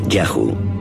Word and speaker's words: YHWH: Los textos egipcios dicen que uno de los lugares donde los Shasu vivían se llamaba YHWH, probablemente pronunciado Yahu, seguramente el nombre de su dios protector.